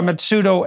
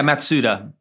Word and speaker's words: Matsuda: so we have crenshaw matsudo and lawrence mitsudo have i got that pronunciation right yeah matsuda matsuta okay um and who would